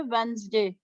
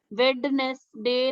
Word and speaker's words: Wednesday: वेंसडे। वेडनेसडे नहीं होता, वेंसडे।